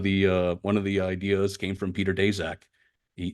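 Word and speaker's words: Daszak: uh one of the ideas came from Peter deac he daak as it's pronounced father's Ukrainian and uh he grew up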